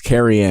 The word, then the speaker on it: Carrion: No, it's Carrion. Carry on my wayward son. It's Carrion.